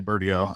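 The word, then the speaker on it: Bertiaux: over here Michael Paul you said bero is how you say his last name beral B birdio I say birdio U birdio the dude's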